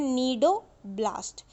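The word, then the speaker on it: cnidoblast: सी silent होता है तो उसको बोलते हैं नीडोब्लास्ट।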